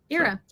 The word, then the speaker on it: Ira: respond to anything yeah it's like the IRA and the era because apparently to everybody in Asia uh and Africa and also parts of Europe uh you pronounce it era era well you can call